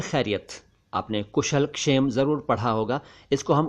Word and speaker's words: क्षेम: हूं एक शब्द का क्षेम क्षेम नहीं शेम नहीं क्षेम क्षेम कषेम नहीं क्षेम यानी क से बोलना शुरू कीजिए और शेम बोल दीजिए क्षेम इसका मतलब है